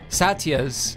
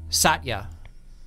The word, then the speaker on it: Satya: different ways i said is your name two syllables satya sat ya or three satya and she said it's a little bit in between it she said two and a half syllables